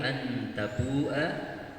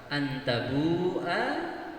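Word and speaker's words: أَنْ تَبُوأَ: Sehingga yang tidak perhatian mereka membacanya panjang. Antabu'a, padahal hanya dibaca pendek.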